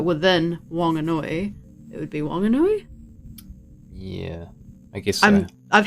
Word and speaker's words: Whanganui: was waiting for her my understanding is that wanganui is the correct pronunciation of the tribe of that area but it's because there's different dialects of maori wanganui and whanganui are both correct just in different dialects but within wanganui it